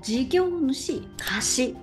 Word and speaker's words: 事業主貸: はい、読み方なんですけど、事業主貸しと読んで、もう片